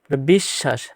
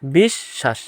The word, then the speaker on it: বিশ্বাস: এখানে ব হবে না এখানে উচ্চারণ হবে অশ বিশ্বাস বিশ্বাস এভাবে উচ্চারণ হবে বদি দেয়া যাবে না ব দিলেই